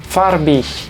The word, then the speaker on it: farbig: Y lo mismo aplica a la G cuando le precede una I al final de una palabra. Esto se lee farbig, farbig.